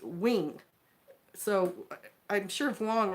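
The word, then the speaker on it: Nguyen: Vietnamese different spelling because the word ng u ye n is pronounced wing so I'm sure if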